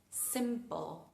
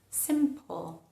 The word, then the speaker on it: simple: Simple. Simple. ¿Vieron cómo cambia? Quéense con la idea de que entre la P y la L, al final de la palabra aparecería como una especie de sonido accesorio.